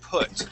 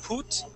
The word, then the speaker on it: put: The first phrase, and we're going to focus on the word put. Okay. So instead of saying put, okay, using a long U sound, we're going to say put.